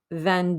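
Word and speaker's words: vingt: even though with the hyphen it looks like minus so remember with the we don't pronounce the g or the t the t gets a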